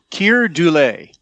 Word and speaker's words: Keir Dullea: Like you said, uh I looked up how to pronounce this guy's name. It's Keir Dullea uh as Dr.